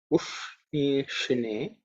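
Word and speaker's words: उष्णीषिणे: Ush, the sh is cerebral sh, where the tongue has to be raised up towards the roof. Ush, ni, shi. Again same. Ush, ni, shi, ne.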